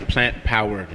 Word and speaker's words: Plant-Powered: You got to say it right. It's plant-powered.